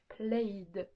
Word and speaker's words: played: La dernière ligne du tableau qui fait que ça va se prononcer en d, played.